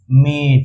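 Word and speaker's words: mate: है इ ये जो लास्ट वाला है ना ये साउंड आके यहां लग जाता है तो इ का साउंड क्या होता है इ का साउंड याद कीजिए इ का साउंड होता है ए से याद है या भूल गए आप लोग इ का साउंड होता है ना ए से बताए थे और टी का होता है ट से तो ये जब जोड़ते हैं तो ये क्या बन गया मेट ये क्या बन गया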